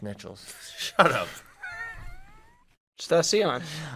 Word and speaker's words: Nichols: Pronounced Nichols.